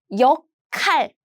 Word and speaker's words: 역할: So the pronunciation is 역할.